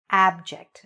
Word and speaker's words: abject: There's a short A sound when we say the word abject. Okay, don't be afraid to open your mouth. Say abject.